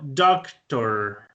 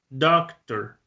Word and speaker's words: doctor: Entonces miren que el británico dice doctor. Ta. Basta este sonido. Ta. No pronunció la R. Ahora el americano. Doctor. Doctor. Ahí sí pronuncia el de la R.